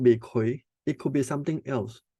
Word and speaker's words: Gui: This is pronounced as Kui. Kui is GUI, but it's pronounced as K sound.